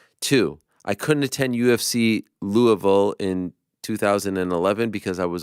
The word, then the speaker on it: Louisville: it was a great question okay number one Louisville is pronounced louville Lou of Ville by people who live in Kentucky two I couldn't attend UFC Louisville in 2011 because I was a broke junior